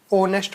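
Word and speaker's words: honest: जो वर्ड होता है इसको हम ऑनेस्ट नहीं पढ़ते हैं ठीक है इसमें जो एच होता है वो लगा लो आप साइलेंट ही होता है ठीक है इसको हम ऑनेस्ट पढ़ते हैं ओ आता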